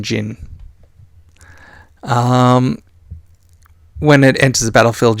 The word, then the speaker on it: Jinn: So we have a Ginny Windseeker, because the D is silent in Jinn.